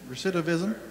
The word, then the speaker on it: recidivism: predict the risk of recipient how do you pronounce that word recidivism recidivism okay and it is actually it's a risk